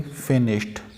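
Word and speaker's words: finished: The party फिनिश्ड, ट का sound, the party फिनिश्ड eight midnight, midnight आधी रात को पार्टी फिनिश हो गई। फिनिश्ड, फिनिश्ड, ड का साउंड नहीं आएगा, फिनिश्ड।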